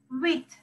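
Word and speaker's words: huit: Wit. You are not pronouncing H there. Wit. Wit. You are not pronouncing H, okay?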